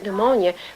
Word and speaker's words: pneumonia: to find the word pneumonia unless some teachers told him that the p is silent and you take those